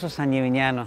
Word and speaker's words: San Gimignano: Ya estamos en el famoso San Gimignano. ¿Lo he pronunciado bien? Lo has pronunciado perfectamente.